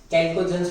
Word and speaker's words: chalcogens: Group number 16 जो है that is called चैल्कोजेंस, कैल्कोजेंस भी प्रोनाउंस कर सकते हैं, बराबर।